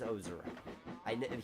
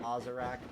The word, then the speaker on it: Ozarek: It's if you're wondering, the last name is Ozarek. He pronounced it Ozarek, and I get it.